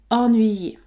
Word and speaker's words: ennuyer: la voyelle Nzale en en ce mot se prononce donc ennuyz ennuyz ennuyer alors il y a toujours des exceptions on